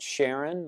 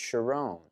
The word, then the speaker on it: Sharon: Carmel is what Shalom most people call it Sharon like the Rose of Sharon but it's actually pronounced sharone and what does it